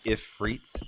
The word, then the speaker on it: Ifrit: is that right like Ifrit has always been ifreets I'm assuming you would pronounce that like if freed almost like pronouncing the F twice right that one never